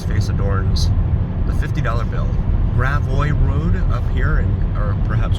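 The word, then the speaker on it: Gravois Road: or perhaps grab W I think yeah I think it's grab W ah my beautiful wife she knows the pronunciations far better than I grab road which would make sense cuz it's a very French area up in here all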